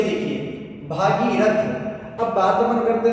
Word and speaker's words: भगीरथ: अब अब इसके साथ अगर अपन बात करते हैं तो भागीरथ शब्द तो अशुद्ध है क्योंकि शुद्ध वर्ड क्या होगा? भगीरथ होगा। ठीक है?